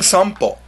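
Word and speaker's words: 散歩: Well, try saying sanpo. When your mouth goes from the to the po, it becomes an M sound.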